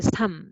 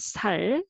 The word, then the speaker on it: 삶: So as a single syllable, and this one is a life, meaning is life. So it is a noun. So noun, then second one speak out. So this is a 삶, not 살, 삶.